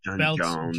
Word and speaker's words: J'onn J'onzz: john john's i guess is it john john john jones it's john jones but it's like a john's yeah yeah specifically what you're supposed to pronounce yeah but whatever yeah